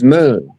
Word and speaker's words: Nun: and the primordial non that they pronounce nun cuz they don't want